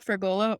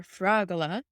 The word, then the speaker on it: Fragola: We have Dr. Jessica Fragola or Fragola, depending on how you'd like to pronounce it, and that means strawberry in Italian.